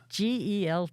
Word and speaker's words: gelt: Hanukkah Gelt. How do you spell that? G-E-L-T. Okay, I thought you said G-U-I-L-T, like I'm guilty. No, Gelt. Hanukkah guilt, and I was thinking, well, the Catholics give out It's Catholic guilt.